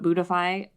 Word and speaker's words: Buddhify: Spelled like Buddha, but Buddhify. But I kind of ran out.